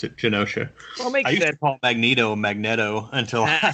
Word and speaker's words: Genosha: I guess but yeah Genosha probably would make sense considering what you know we're talking about mutates and gene so Genosha probably is correct so